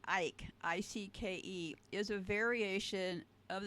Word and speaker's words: Icke: I don't know how David Icke pronounces it, but it was not originally pronounced Ike. It was ick as in icky, rhyming with sick and dick.